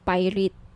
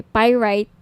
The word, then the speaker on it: pyrite: ng bracelet ito yyung pirate pyrite Sorry pyrite iyung iba pronunciation pirate pyrite Okay 1,980 each my